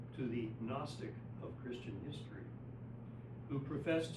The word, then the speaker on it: gnostic: Um in the case of agnostic, although in English we don't normally pronounce the opening G in gnostic, when we add the negating prefix A, we pronounce the G.